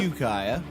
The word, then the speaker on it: Ukiah: I've been informed it's pronounced Ukiah. Yeah, you got some very aggressive tweets. Yeah, from people like, I that's said- where AFI is from. So. I said Ukiah.